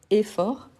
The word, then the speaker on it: effort: Effort, c'est un mot qu'il y a deux F. Hein. On a et fort. Il n'y a pas d'accent, mais le et, il est fermé, il est bien prononcé. Pourquoi? Parce qu'il y a deux F. Donc le F ici, c'est comme si c'était un accent aigu, tel que café. Donc effort.